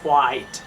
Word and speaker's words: quiet: ইজ আমরা কোয়াইট বলি, আসলে it should be কোয়াইট। Clear? So it's quiet.